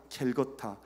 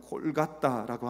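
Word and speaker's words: Kolkata: 인디아 켈거타 그들 발음을 하면 골갓다라고 하는 동네로 찾아가서 그 정말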